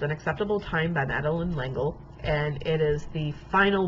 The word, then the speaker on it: L'Engle: looked it up, and that's how you pronounce her last name in English. It's L'Engle, which is a little weird for me, but because it's a French name.